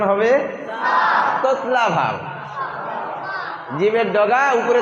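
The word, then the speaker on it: ح: নিচে এক নুক্তা হলে কি নিচে এক নুক্তা হলে জিম ও যে জিমে নুক্তা হয় হয় কয়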